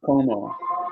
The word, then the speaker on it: comment: They pronounce ent like O.